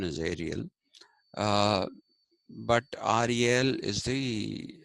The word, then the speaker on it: Ariel: who goes by the name of e SEL a r i e l is a Frenchman so pronounce it as Ariel and not as Ariel the English pronunciation is Ariel uh but Ariel is the uh French pronunciation